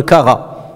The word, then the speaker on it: carat: Et même aujourd'hui, d'ailleurs, on l'utilise, aujourd'hui, on parle de le kara. Hein? Lorsqu'on parle des bijoux, 18 karats, 19 karats. Kara, là, ça s'écrit avec un T à la fin, c'est qirat, karat.